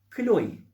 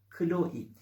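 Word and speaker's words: Chloé: telaffuzlar da yapmamız gerekmiyor kloe kloe şeklinde sonu e ile biten markanın o e'si iye dönüştürü musunuz kloi Serdar Ortaç'ın ek eşi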